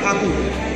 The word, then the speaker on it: ঠাকুর: টেগর না, ঠাকুর। টেগরও বলে তো না, ওটা ইংরেজরা ঠাকুর উচ্চারণ করতে পারতো না, আচ্ছা তাই জন্য টেগর বলে দিল।